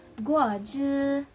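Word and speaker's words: 果汁: So as you can see, for the first syllable, it sounds like it has the third tone. So it's gonna sound like again. So we're gonna sound like guo, guo. And the next syllable is zh, zh, zh. So it has the first tone.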